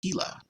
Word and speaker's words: Gila: like that oh yeah dead man says Gila blizzard pronounced more like Gila are you guys that